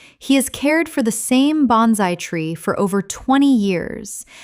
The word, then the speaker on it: bonsai: He has cared for the same bonsai tree for over 20 years and considers it one of his most precious possessions. Repeat. bon-sai bon-sai Word 222.